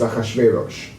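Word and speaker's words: אחשורוש: his name in english but in hebrew it's achashverosh so he rules 127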